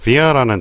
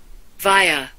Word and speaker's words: via: 조금 어려운 단어로서 via라는 단어가 있어요. 발음 들어보시죠. via, via. 또는 뭐 via라고도 하고 via라고도 하고 그렇습니다. 요 i가 알파벳 발음으로 i잖아요. 그래서 via라고도 하고요. 이게 발음 기호상으로는 e입니다. 그래서 via라고도 그럽니다.